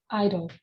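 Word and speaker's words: idle: pronounce that eyelid idl you got it very close i dull i although do you know the tv show american idol american idol yeah it's the same pronunciation idol perfect perfect perfect good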